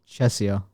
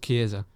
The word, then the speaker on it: Chiesa: Okay, I'm gonna guess it's Chesia, or I don't know. Chisa. It's pronounced Chiesa.